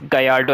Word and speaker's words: Gallardo: By the way, sorry, it's Gallardo actually. I think so Italian these double L's are pronounced as Y.